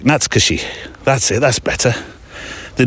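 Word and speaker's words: 懐かしい: Now, if you look at the word and say it phonetically, it's Natsukashi, but actually I did a bit of homework, went to find out how you pronounce it properly, and it's Natsukashi. Natsukashi. Quite quick, Natsukashi.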